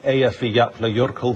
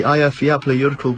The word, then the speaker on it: Eyjafjallajökull: Pronounced. What? Are you kidding? Is that the Eyjafjallajökull glacier? The eruption at the Eyjafjallajökull glacier was The volcano underneath the Eyjafjallajökull glacier.